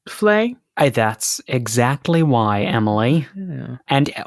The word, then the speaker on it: vlei: Wetland so that's why this word can be pronounced fle that's exactly why Emily and in South African English they they do pronounce it fle sure uh more often than not but you